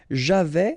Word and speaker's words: j'avais: Okay, so j'avais, final S not pronounced.